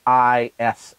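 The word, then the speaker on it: Islay: then you have the isla and this is um this is tricky spelling isla is spelled i-s-l-a-y and so if you see it on a bottle it doesn't look like it's pronounced isla but um isla is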